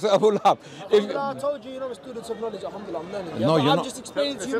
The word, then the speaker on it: Abu Lahab: Abu Lahab. Abu Lahab, not Abu Luhayb. Abu Jahl. No. He said Abu Jahl, Abu, you said Abu Lahab. I'm correcting your pronunciation of Abu Lahab. You said Abu Lahib.